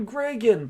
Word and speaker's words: Gregan: Oh, yeah, a lot of people were like, oh, hey, Gregan, by the way, that's how you pronounce it, you clearly forgot about the Zenith.